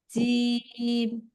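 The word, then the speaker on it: جيم: তা তা সা জিম জিম জিমটা শক্ত করে হবে জিম জিম হা দাল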